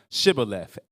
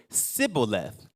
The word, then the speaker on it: Shibboleth: They said, look, say this word, which was Shibboleth. And the way they pronounced it, they said Sibboleth.